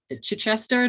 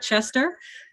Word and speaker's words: Chichester: had my pronunciation corrected it's uh chichester not chester um not the university of chester okay uh lombay please